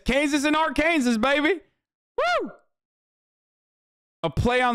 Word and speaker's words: Arkansas: Do you know the actual pronunciation of Arkansas? Like the Matrix, what do you mean? Sag. I'm saying it right. Arkansas.